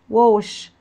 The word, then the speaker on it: wash: كلين، يغسل، ووش، ووش، الاس اتش بتنطق شين يا ولاد، ووش، يغسل أسنانه بالفرشاة أو يسرح يعني برش، يبقى ووش، برش، ووش، برش.